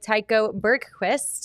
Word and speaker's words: Tycho Bergquist: It's exactly like it's spelled.